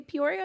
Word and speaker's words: Peoria: check me out in Peoria, Illinois this weekend. I'll be at the Jukebox, 2 shows on Saturday in Peoria, Illinois, and the Riverside Casino Friday in Iowa. Amazing. Could you say Peoria again?